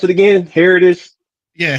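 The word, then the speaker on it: Herodotus: Um and uh how how do you pronounce it again? Heritis. Yeah, Heroditus.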